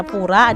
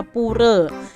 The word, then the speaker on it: pura: adik-adik ada yang bacanya pura ada yang bacanya puree ya salah satu hari